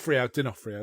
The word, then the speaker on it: D'Onofrio: D'Onofrio, that's it.